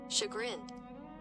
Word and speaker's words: chagrined: Chagrined. Chagrined? Chagrined. Chagrined. Oh, okay. Sure. Chagrined. Chagrined is the word that we learned today. Cha, and that word is pronounced sha.